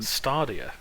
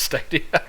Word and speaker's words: Stadia: yeah i'm pretty sure i'm pretty sure it's steady i don't know there's no r in there i'm just a simple